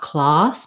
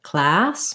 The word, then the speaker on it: class: request for class so that word has the black cat vowel and two s's often say the s sound it's a single syllable um so there's not really an easier way to write it um to help you just watch out that you don't want the ah sound not class but class more forward with the tongue one thing that might